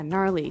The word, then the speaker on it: gnarly: We heard the ski instructor say gnarly. Gnarly run. Yeah, gnarly. So an interesting word, it's spelled Gnarley. Okay, so, but you don't say gnarly. No, You just- say gnarly.